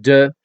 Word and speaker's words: de: The word de is pronounced as de. D-E is how it's spelled. Or a little like the English expression duh.